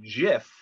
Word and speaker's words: GIF: while working for compuserve he called it a jiff with a soft g choosy developers he reportedly said choose jiff this was of course a play on the peanut butter brand jiff's lying choosy mothers choose jeff wow so as musicians